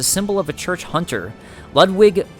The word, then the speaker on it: Ludwig: Ludwig, I think that you actually pronounce that with a V, was the first of many Healing Church hunters to come, many of whom were clerics.